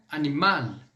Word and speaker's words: animal: Ou, por exemplo, animal. Animal, eu pronuncio esse L.